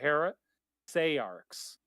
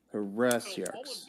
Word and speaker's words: heresiarchs: So all of the pronunciations I'm finding on various dictionaries give different pronunciation guides where the stress is either on the second or the third syllable. The main thing I was going after, though, was Jack was saying the third syllable should be pronounced as an A vowel instead of an E vowel.